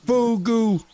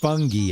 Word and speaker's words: Fugu: Bad Fugu. Fugu. I was calling him Fungi and there's no N.